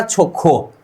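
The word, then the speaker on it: 좋고: Side में ह आए, तो ये दोनों का ही उच्चारण हम मिक्स करके क्या करेंगे, ख, राइट। मतलब इसका उच्चारण हो गया छोखो, छो खो, मतलब अच्छा और, राइट।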